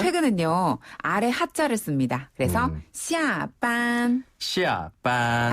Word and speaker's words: 下班: 下班. 쉽네요. 下班. 굉장히 쉽죠. 네. 그러니까 출근은 上班. 네. 퇴근은 上班. 그리고 퇴근은 下班. 네. 샹과 시아입니다. 그렇죠. 샹과 시아인데요. 이때 샹은 윗상자, 시아는 아래 하자 발음이에요.